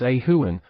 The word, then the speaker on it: Oran: Delightfully, Mary also informs us that the Druid pronunciation of Oran was Ahuan, perfect mimic of a dove's repetitive call.